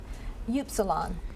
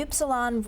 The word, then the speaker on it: upsilon: Upsilon.